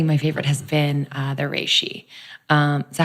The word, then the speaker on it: reishi: So recently my favorite has been the reishi. Is that how you pronounce it? I know it's pronounced either way. It's ways. a Japanese name. Nobody does it right. Reishi. Rishi, whatever. I just say rishi.